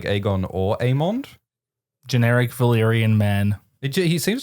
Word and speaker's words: Aemond: It's Aemond. Aemond. The way they say it in the show.